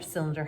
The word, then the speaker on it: cylinder: here's the word cylinder cylinder has that soft c at the beginning right and why sometimes